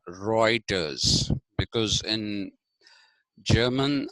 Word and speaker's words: Reuters: which is heroics because in German EU becomes oi okay like I was giving you the example of Reuters the news agency r e u t r s but it's not pronounced rutus it is pronounced reiters